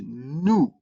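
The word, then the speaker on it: nu: New is written like uh v in English. So you need to be very careful. Don't don't confuse it with v uh in English because it has a n sound like uh n in new.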